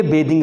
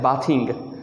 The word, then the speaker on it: bathing: लगा देंगे तो ये बेदिंग बन जाएगा। तो most of the people mispronounce this word as बाथिंग, तो दैट्स रॉन्ग, वो गलत है।